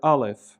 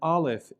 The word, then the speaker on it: aleph: of time in antiquity, it would have had an type of sound, kind of like the way the double T is pronounced in the Scottish pronunciation of the word bottle, bottle. And forgive my poor Scottish accent, bottle. And it's a constriction of the throat. But over time, this came to be really a silent consonant, in the same